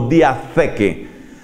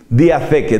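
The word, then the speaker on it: διαθήκη: Además, esa T va con una H, se pronuncia algo así como diatheke, diatheke, diateke con TH y con K.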